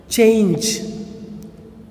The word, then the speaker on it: change: The next word is change. Change. Okay. இந்த வேர்ட்லாம் பார்த்தீங்கன்னா இந்த ஈ நம்ம உச்சரிக்க மாட்டோம், சைலண்ட் லெட்டராக வருது.